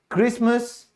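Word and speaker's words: Christmas: फिर है किला, कासल, यहां पे टी साइलेंट क्यों हुआ, L और E की वजह से। अब और कुछ शब्द हैं, एजमा, क्रिसमस, मॉर्गेज।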